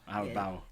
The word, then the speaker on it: Albao: the in the studio we have hermy Al alau alow yes that's what I was going to say I've never I've never butchered anyone's name to date and I had